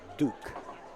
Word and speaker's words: Duc: He spells it D-U-C, but it's pronounced Duke.